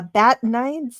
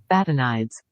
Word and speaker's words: Batanides: so he's played by Arthur but but uh bat nides no that's not how you say it but